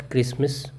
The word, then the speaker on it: Christmas: Lesson का नाम है the best क्रिसमस present in the world. क्रिसमस की स्पेलिंग में ध्यान रखना। इसमें टी जो है यह साइलेंट है।